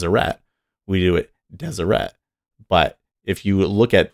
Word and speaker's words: Deseret: like e and a we pronounce them with a schwa which is really like almost dropping the vowel so SH was like